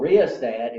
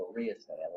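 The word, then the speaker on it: rheostat: It's a riostat. A riostat controls the flow of current. So what's the function of a potentiometer? Huh? R asking me to spell something. Rh. So the h is silent.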